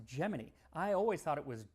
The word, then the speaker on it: Gemini: But in 196 times did tell us about some foods that were making it into space on the upcoming Gemini mission. And yes, it's pronounced Geminy.